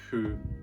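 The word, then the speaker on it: ふ: Number 6, for this character right here, it's pronounced hu. It's a mixture between fu and hu. It's pronounced by blowing air between your lips and then letting the air pronounce the f sound. But what? So it's hu, not fu as in kung fu, but hu.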